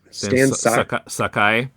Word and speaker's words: Stan Sakai: it's an anthology with some how do you pronounce his name? Stan Sakai.